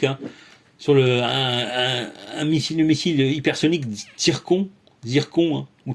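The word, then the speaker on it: Циркон: Hein, sur un missile hypersonique Zircon, hein, ou Tircon, ça se prononce en russe, hein, Tircon, donc a été faite le 19 juillet.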